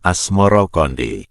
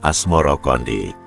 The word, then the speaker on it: Asmoroqondi: Sebutan itu mengikuti pengucapan lidah Jawa dalam melafalkan As-Samarkandi, yang kemudian berubah menjadi Asmoro-Kondi.